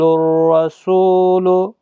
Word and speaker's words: الرسول: رواں بھی پڑھیں۔ یقول الرسول یقول الرسول، دیکھیں الف اور لام نہیں پڑھا جا رہا ہے کیونکہ اس کے آگے حروف شمسی کا را ہے، اس لیے